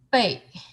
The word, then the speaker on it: 贝: Pronunciation is 贝, fourth tone.